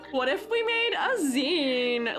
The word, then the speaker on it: zine: We say Zen. Uh, some people say Z, but that's because they they only got it from the internet.